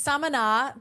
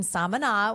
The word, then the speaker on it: Samaná: Samaná. Is that how you say the town? Yeah, you're close. It's Samaná, but you know, you sound like a real local when you know that it's Samaná.